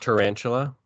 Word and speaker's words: Tyrangel: It's He actually says, pronounced tarantula.